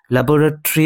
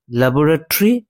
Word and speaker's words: laboratory: এখানে ল্যাবোরেটরি মানে হচ্ছে গবেষণাকার। তবে এই শব্দটির উচ্চারণ কিন্তু দুরকম। ঠিক আছে? একটি হচ্ছে ল্যাবোরেটরি আরেকটি হচ্ছে ল্যাবরেটরি।